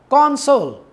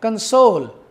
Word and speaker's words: console: of two words here one is console if the stress is on the first syllable then it will be a noun if the stress is on the second syllable it will be a verb for example console its label the first level is stressed and if I say